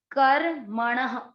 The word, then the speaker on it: कर्मणः: क पूरा है, क में आपको अ का उच्चारण मिक्स करना है। क म पर है र की मात्रा, र आधा और म पूरा। क आधा रखकर म पूरा, कर्म अण, कर्मण।